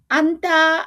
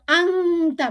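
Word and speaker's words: أنت: খেয়াল রাখবেন এটা হচ্ছে কোরআন রিসাইটেশন না, তাই আমরা আন্তা উচ্চারণ আংতা বলবো না, আন্তা নুন সাকিনটা আমরা ক্লিয়ারলি উচ্চারণ করব।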